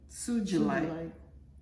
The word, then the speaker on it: sugilite: It Again soon July sugilite okay soft G yeah yeah so sugilites yeah you